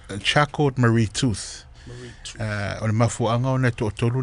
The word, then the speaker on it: Charcot Marie Tooth: e alu ko masingo ko so it's actually pronounced Charcot Marie Tooth.